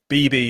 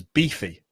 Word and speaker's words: Beeby: Beeby is exactly how my name is meant to be pronounced. So that's wonderful. Oh, great. Yeah, exactly. It's not always the case. Sometimes it gets mispronounced a lot in letters as beefy, which is a very different word.